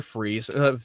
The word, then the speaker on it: Fries: kind of felt just say freeze. I mean, everybody knows Victor. I'm just going to call him Victor Freeze, not fries.